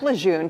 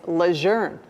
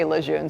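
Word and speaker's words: Lejeune: Susie wrote in saying, "I have never heard anyone on your station pronounce camp lune correctly. They always say lune. It's not that. It's leour."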